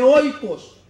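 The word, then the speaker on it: οἶκος: Ya dijimos que se dice, ¿cómo se dice casa en el idioma griego? Dijimos, se dice oikos.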